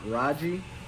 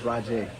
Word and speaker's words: Rajay: So it's not Raji, Raja, or Raja. It's Rajay. You hear that, Malik? It's Rajay.